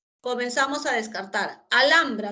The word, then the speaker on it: Alhambra: Alhambra, ¿está bien? La H no tiene sonido, la L entre vocal y vocal forma sílaba con la segunda, correcto.